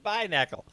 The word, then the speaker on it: Binacle: It's Binacle.